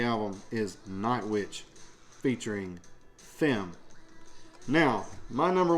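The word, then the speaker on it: Phem: And it features Fem. P-H-E-M is, I think, how they pronounce this, is Fem.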